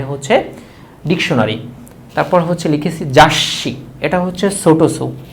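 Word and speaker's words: 雑誌: তারপর হচ্ছে লিখেছি জাসি। এটা হচ্ছে ছোটোসু। যদি ছোটোসু থাকে তাহলে পরের যে বর্ণটার থাকে সে বর্ণটা ডাবল উচ্চারিত হয়, এই জন্য এটার নাম হচ্ছে জাসি।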